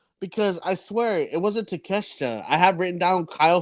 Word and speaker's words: Takeshita: I have no idea. Takeshita. That's how you say it. Takeshita.